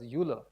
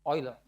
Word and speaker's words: Euler: By the way, so when you come out of school, many people in school pronounce this as Euler. It's Euler. Euler came out of the German-speaking part of Switzerland, and EU in German is Eu.